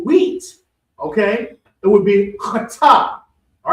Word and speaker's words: chaatah: to throw, but this is the cha, so chata.